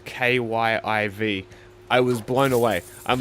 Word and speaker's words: Kyiv: And also no one anymore says Kiev, which is the more Russian pronunciation of Kyiv.